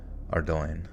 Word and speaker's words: Ardoin: how Ardo oh okay the stresses on the second syllable it rhymes with coin ardoin interesting gentlemen Dr weird